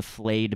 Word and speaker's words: flay: They have their banner and it's the flayed man, because they're fucking weirdos that skin people. Is that like spelled like filet mignon or like no, it's flay like Bobby Flay.